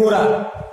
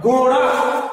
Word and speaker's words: घोड़ा: ठीक है, इसको हम लोग प्रोनाउंस करते हैं रबड़, घोड़ा, लड़का, बड़ा। इसको कैसे प्रोनाउंस करते हैं, हमारी जीभ जो है वो तालू में हल पीछे से टच करते हुए आगे की तरफ आता है, अड़ा अड़ा अड़ा अड़ा अड़ा, ऐसे करके